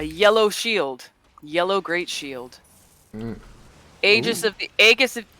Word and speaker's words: Aegis: It's usually pronounced Aegis. It's a common word. Okay. Because there are other words where AE is debatable. Mm-hmm. You ready? Yeah. Aegis is pronounced like Eon.